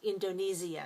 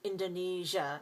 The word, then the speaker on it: Indonesia: And we also have it in words like Asia and Malaysia and Indonesia. Now, it's also possible to say Malaysia and Indonesia. Some people say that. Most Americans don't. Most Americans say Indonesia and Malaysia.